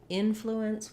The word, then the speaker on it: influence: the flu syllable, but in influence we're stressing on the in syllable. Even though it seems maybe like it might be short and unimportant, that's actually where the length goes in this word.